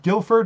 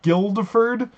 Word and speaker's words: Guildford: So I was actually was reading or watching the Game Grumps version of this, and and apparently it's pronounced Guildford and not Guildford.